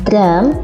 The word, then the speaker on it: drum: Walaupun ini kita menyebutnya drum tepat, tetapi penulisannya tidak menggunakan huruf A, tetapi menggunakan huruf U, drum. Kita membacanya drum.